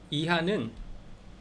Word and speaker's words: hija: 이하는 HIJA. 그래서 이하라고 H가 묵음, J는 히읗 발음.